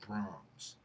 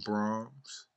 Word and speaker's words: Brahms: Beethoven and Mozart, and I believe it's pronounced Brahms.